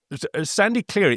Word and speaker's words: Sandy Cleary: And so, um, Sandy clearly is pronounced like sand, something that is coarse and rough and irritating and gets everywhere.